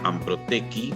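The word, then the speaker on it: Anprotec: Y tiene muchísima actuación en tanto la Asociación Brasileña de Incubadoras de Empresas y Parques Tecnológicos, denominada Amprotequi, como se pronuncia, aunque termina con C, y en la Asociación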